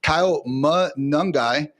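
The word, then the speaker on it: Kyle Monangai: rounder out of Rutgers, I wrote down his pronunciation, Kyle Mungai.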